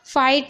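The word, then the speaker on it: fight: फाइट में आप देख रहे हैं जी एच टी है। तो जी एच को नहीं पढ़ा जा रहा है।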